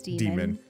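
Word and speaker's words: daemon: Technically, you still pronounce Damon is demon. I know that like sometimes they try to differentiate it, but ae in Yeah, things like Latin and stuff.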